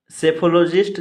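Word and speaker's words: psephology: में घूमने वाला व्यक्ति सेफोलॉजिस्ट चुनाव विश्लेषक सेफोलॉजिस्ट चुनाव विश्लेषक पीस साइलेंट रहेगा सेफोलॉजी चुनाव विश्लेषण सेफोलॉजी चुनाव विश्लेषण पी इसमें भी साइलेंट है सेडो निम उपनाम पी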